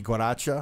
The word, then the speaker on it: guaracha: Yeah, I say like we pronounce the G guaracha.